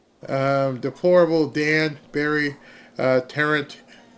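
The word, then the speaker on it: Tarrant: deplorable Dan Barry uh terrant terrant is I guess I said it right must have said tarant before but tant is is what the word is for Tech how Texans talk about it thank you very much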